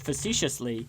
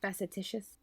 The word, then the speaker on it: facetious: I feel like you were saying that facetiously. No, it was literal. I recently learned that facetious is not facetitious.